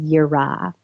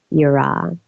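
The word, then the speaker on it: יראה: Hebrew Bible for fear, and that word is yirah, and that's spelled Y-I-R-A-H.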